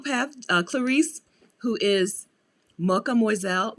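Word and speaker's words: Mocha Moizelle: uh clarice who is mocha moiselle mocha mozelle like mademoiselle but mocha m-o-c-h-a-m-o-i-z-e-l-l-e i'm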